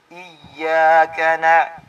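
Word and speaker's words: إِيَّاكَ: Hindi po mali po ang pagbasa ng iya katulad ng mali po yun. Ang tama ay iyyaka na'budu.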